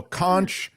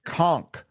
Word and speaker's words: conch: Uh, anyway, all's well that ends a kunch is pronounced conchk.